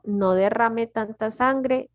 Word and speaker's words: derrame: Y aquí derrame. Derrame. Oh, so Es- you almost separated like 3 syllables. Sí, es 3 sílabas.